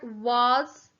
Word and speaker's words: was: 4, was. W-A-S. I know it sounds like a Z at the end.